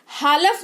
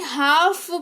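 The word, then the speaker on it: half: काम यानी कि शांति हालफ नहीं हाफ पढ़ेंगे यानी कि आधा ठीक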